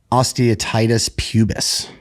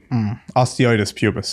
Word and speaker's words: osteitis pubis: Jake Connory 42 would like to know, how does David go about treating a chronic injury like osteotitis pubis? Osteitis pubis.